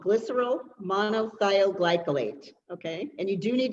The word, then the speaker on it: glycerol monothioglycolate: I'm going to say it first, then I'll spell it for you. It's called glycerol monothioglycolate, okay?